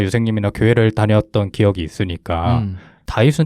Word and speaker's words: 다윗: 번째 왕이 바로 다윗입니다 실제로 고대 히브리 저는 다비드라고 읽는게 맞대요 그리고 현대 히브리어로는 다비드라고 읽는다고 해요 근데 이제 우리나라에는 다윗이라는 이름을 따와 가지고 음역으로 그냥 다윗 이렇게 얘기한다고 하더라고요네 기본적으로는 이제